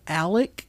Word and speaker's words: Alex: I watched it with him, and halfway through he goes, why does he call himself Alec when it's spelled Alex?